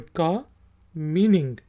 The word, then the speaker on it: comb: बी आखिरी वाला silent है, उसकी आवाज़ नहीं निकलेगी, कॉम।